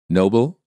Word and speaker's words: noble: stressing the wrong syllable stressing the wrong syllable sometimes creates misunderstandings because people think you're pronouncing a completely different word the following words are great examples of why syllable stress is such an important component of the American accent listen and repeat noble Nobel he won the Nobel Prize for his Noble effort invalid invalid the invalid